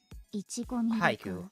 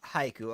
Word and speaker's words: haiku: By the way, by the way, H AI makes a high sound. Haiku. Haiku.